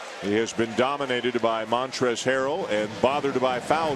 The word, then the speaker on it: Montrezl: The L at the end of Montrez is silent.